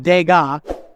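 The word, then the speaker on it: Degas: SP but it's pronounced dega without the S the S is silent and then it ends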